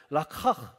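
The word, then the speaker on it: לקח: 발음을 잘해야 된다고 했죠. 히브리는 라카흐. 라카흐라는 말을 쓰면서 이 취했다.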